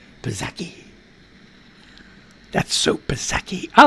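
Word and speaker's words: Psaki: press secretary jen zaki pazaki how did how you say her name p-s-a-k-i pazeki that's superseki i like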